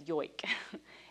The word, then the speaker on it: joik: I think in, if we look at the word, we pronounce it joik, but it's yoik.